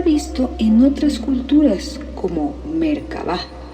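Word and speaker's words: Merkaba: en otras culturas como mercaba mercaba mercaba y existen varias pronunciaciones pero generalmente se articula como si las tres sílabas estuvieran separadas merc con acentos iguales en cada una mer se refiere a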